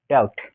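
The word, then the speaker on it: doubt: তাহলে কি হবে অনেস্ট এইযে ডি ও ইউভিটি এখানে বি এর উচ্চারণটা হবে না তাহলে আমরা কি করব ডাউট আমরা বলব ডাউট তারপর কি হবে ডব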